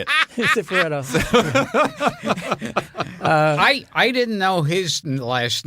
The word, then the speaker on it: Cifaretto: Cifaretto.